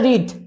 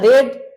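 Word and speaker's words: read: এটা প্রথম করে উচ্চারণটা রিড, তারপর উচ্চারণটা রেড, তারপর উচ্চারণটা রিড।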